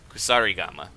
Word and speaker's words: kusarigama: It's a Kusarigama.